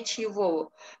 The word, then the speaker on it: чего: Ini dibacanya chivo. Walaupun tulisannya cego, tapi kita bacanya chivo.